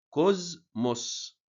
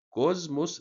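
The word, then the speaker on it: ⲕⲟⲥⲙⲟⲥ: ليه ثلاث طرق للنطق بننطق زين في الكلمات اليوناني بس لو جه بعده حرف المي بننطق ايه زين زي كلمه كوزموس كوزموس بص ك نطقنا زين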